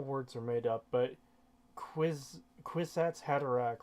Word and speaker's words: Kwisatz Haderach: I know all words are made up, but Kwisatz Haderach rhymes with knick-knack paddywhack, and we should all laugh at that.